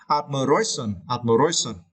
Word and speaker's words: admiration: And for the word admiration in noun form, you need to stretch the third syllable. This syllable, you can see, right, admiration, okay?